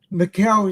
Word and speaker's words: Macau: And she said, "Macow is in my barn." Well, that makes it easier to learn how to pronounce it correctly.